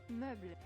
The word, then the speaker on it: Meuble: You don't pronounce the E in the end. Meuble.